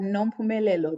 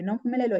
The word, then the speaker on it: Nompumelelo: But Nompumelelo, really, Nompumelelo in my own language, it means mother of all success.